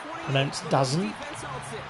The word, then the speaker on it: DAZN: next day on DAZN, which is what I've heard is how you pronounce DAZN, DAZN.